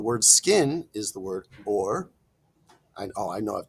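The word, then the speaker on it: עור: Um, but this is uh this rhymes with the word for light, which is also or.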